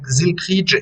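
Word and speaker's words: Zylkrijk: vous pouvez le noter si vous voulez ça s'écrit zilkdge zilge je m'appelle zilkidge et je me demandais vous vous êtes affilié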